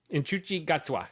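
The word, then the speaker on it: Ncuti Gatwa: His name is uh Nukti Nuke Inuchi Gatwa. Inuchi Gatwa.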